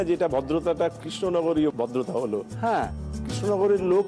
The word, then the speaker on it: কৃষ্ণনগর: বলে না যেটা ভদ্রতাটা কৃষ্ণনগরীয় ভদ্রতা হলো হ্যাঁ কৃষ্ণনগরের লোক নাকি খুবই সংস্কৃতিমনস্ক এবং তারা শুদ্ধ উচ্চারণ করতে চান অথচ কেশনগর বলেন বটে কিন্তু কৃষ্ণনগর বলতেন তো ওরা যেহেতু কৃষ্ণনগর বলতেন কৃষ্ণনগর বলে কৃষ্ণনগর বলে হ্যাঁ কৃষ্ণনগরও